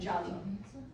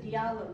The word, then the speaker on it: Diallo: We got Ba, Bari, Kamara, Conte, and Jalo, which is spelled D-I-A, but is pronounced Ja. If anybody says Diallo to you, incorrect.